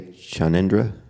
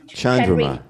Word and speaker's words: Chandra: as well yes okay am I saying it right when I say chendra Chandra Chandra thank you for correcting me